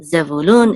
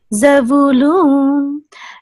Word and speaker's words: Zebulun: And Zebulun is tipcha. So this is Zebulun.